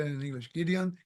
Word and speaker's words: Gideon: uh how do you say it in English Gideon Gideon yeah Gideon Gideon um when he was going